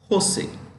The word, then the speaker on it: Jose: Cisco San Jose California this is pronounced with an H Jose Microsoft is headquartered in